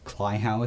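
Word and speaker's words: Kleihauer: was another investigation you do it's called a Clower test can you spell that you serious that's k l e i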